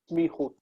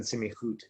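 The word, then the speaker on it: סמיכות: Sorry, I said semichut. It's smichut. Smichut. Where are you looking in the book? Page 65. 65. It's that's definitely a consonant cluster. Smichut. If you say semichut, then it sounds like semi-automatic or something.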